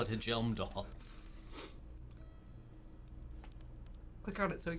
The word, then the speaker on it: Hjelmdall: They wanted it to be pronounced Yelmdall. They should have spelled it with a Y. Why? It says Helmdall, or sorry, excuse me, Hjelmdall. So I'm gonna call it Hjelmdall.